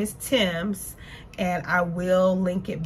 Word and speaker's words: Thames: a british brand so it looked like it would say something else but they are pronounced tims so i seen these